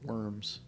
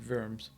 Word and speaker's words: Worms: live in germany called worms it's not pronounced that it's pronounced verms but it is spelled literally worms like w-o-r-m-s and i